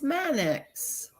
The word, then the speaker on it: Mannix: Yeah, it's Mannix.